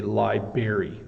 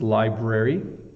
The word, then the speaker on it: library: them wrong um but some people say Liber don't don't say that okay it's Library um if you are